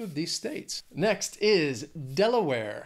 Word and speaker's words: Delaware: Next is Delaware. Has three syllables, stresses on that first syllable.